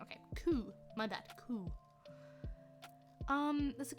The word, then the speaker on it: coup: The P is silent. Okay, coup.